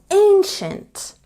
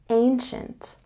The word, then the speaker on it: ancient: say the building is ancient there's a stress on the first syllable and when we have i e after C in this word it becomes the sh sound Ancient Ancient now let's look at